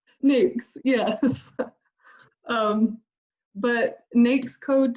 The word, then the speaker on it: NAICS: you pronounce it because i've always called it like nike's code or something i'm not gonna sound dumb anymore i had to learn it because i didn't know nyx yes um but next